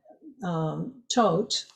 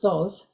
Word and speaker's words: Thoth: symbol for the Egyptian god tote or sometimes pronounced Thoth and in the Egyptian language it's called tahuti um also Ramses II